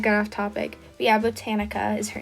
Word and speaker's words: Botanica: For her name, I went with Botanica, spelled like botanical. Was that how you pronounce it? Botanical, but like without the L.